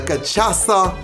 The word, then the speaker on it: cachaça: Ladies and gentlemen, the Cachaça Batida, okay?